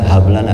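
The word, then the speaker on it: هب لنا: Tuh nih kadang-kadang harus dibikin lihatin, huruf haknya hak gede, bukan hak kecil, ya. Rabbana hablana hak gede. Banyak orang bacanya hak kecil, maksudnya dipikir mungkin artinya hablun kali ya, tali, ya.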